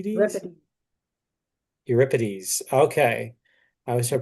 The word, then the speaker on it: Euripides: Euripides. Euripides. Okay. I always have trouble pronouncing that name.